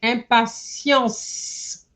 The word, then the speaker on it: impatience: So, j'attends également les grandes vacances avec impatience. I didn't hear the S. Impatience.